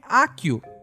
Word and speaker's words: Accio: Inclusive, um ouvinte muito perspicaz me disse que eu estou pronunciando errado e que na verdade é Accio.